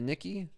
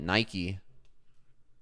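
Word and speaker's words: Nikkei: in doubt zoom out the Nikki have I been pronouncing it wrong this entire time I think I went through this whole thing figuring out how to pronounce that the nkd we're trading nkd I was calling it Nike never doing that again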